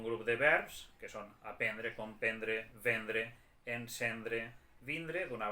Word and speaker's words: aprendre: La forma de l'escriptura és amb R, aprendre, però la pronúncia és aprendre.